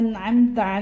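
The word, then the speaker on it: أنعمت: Di situ ada hamzah. Yang mula-mula hamzah, kemudian yang berikutnya ain. Jangan sampai salah baca.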